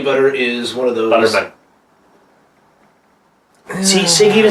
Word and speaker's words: Butterman: He's Danny Butter. Yeah. Danny Butter is one of those... Butterman. See, Sig even said it right there. Sorry. Butterman. That's alright. Butterman. Danny Butterman.